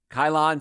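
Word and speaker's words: Ceylon: that craving so uh kylon see what see well i guess that's how you say it c-e-y-l-o-n uh that's the one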